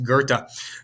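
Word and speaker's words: Goethe: faust and that is gerta spelled g-o-e-t-h-e but pronounced gerta toss-up number six one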